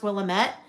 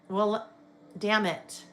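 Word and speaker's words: Willamette: It's not pronounced Willilamett. Will rhymes with damn it. Damn it. Will Damn it.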